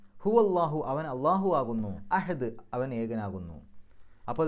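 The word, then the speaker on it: الله: ആ പദവും അള്ളാഹുവിനെ പോലെ തന്നെ ഏകമാണ് എന്നർത്ഥം. ആ ഒരു പദത്തിൻ്റെ ഉച്ചാരണം പോലും മറ്റെവിടെയുമില്ല. കാരണം ലാമിന് ആ രൂപത്തിലുള്ളൊരു ശബ്ദം കൊടുക്കുന്നത്, അള്ളാഹു എന്ന് പറയുമ്പോൾ ലാമിനെ നമ്മൾ കട്ടി കൂട്ടിയിട്ടാണ് പറയണത്.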